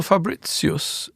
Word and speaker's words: Fabritius: Well, Fabricius, as I've been taught to pronounce him.